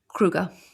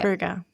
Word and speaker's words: Kruger: But they don't really pronounce it like that. And of course I can't do a South African accent. I won't do that. Kruger. Yes, it is more like that, yes.